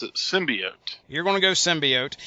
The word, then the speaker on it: symbiote: anything involving the Carnage symbiote, not whatever they say in the Venom trailer.